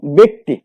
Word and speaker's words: ব্যক্তি: যেমন আমরা যদি বলি শব্দটার মধ্যে দেখো ব্যক্তি, বয় জফলা কয়তয়ের শিকার, এখানে জফলা প্রথম বর্ণের সাথে আছে, কয়তয়ের সাথে আছে ইকার। সুতরাং এখানে যখন আমরা উচ্চারণ লিখবো তখন কিন্তু বয়ের সাথে একার হবে, বয় একার, ক এবং তয় রস্যিকার।